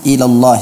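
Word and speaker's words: إلا الله: yang artinya mengumpulkan bibirnya tidak dibaca illallahu tapi illallah illallah alis catatan yang pertama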